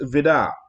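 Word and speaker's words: Vide: And so it was signed by Hans Vidar, and that's how you pronounce it. It's spelled V-I-D-E, but it's Hans Vidar. It's how you pronounce it.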